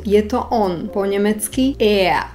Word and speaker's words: er: Aj tu si musíme dať pozor na výslovnosť. V nemčine totiž platí pravidlo, že r na konci slova sa nevyslovuje ako r, ale ako a. Toto je takzvaná redukovaná výslovnosť. Takže nebude to slovenské R anglické r, ale nemecké e. Pokojne pritom úplne zvezte bradu a vyslovte ea.